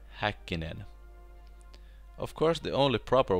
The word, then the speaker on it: Häkkinen: this episear pronce Häkkinen First of all let Listen to Example of How an American would say his name Mikä hakenen and here how you should say it Mika Häkkinen of course the only